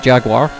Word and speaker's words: Jaguar: In the Jaguar, or the Jaguar. That's how the Americans say it, Jaguar.